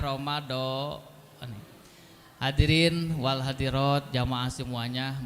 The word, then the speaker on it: Ramadan: Jadi yang paling utama bacanya Ramadan.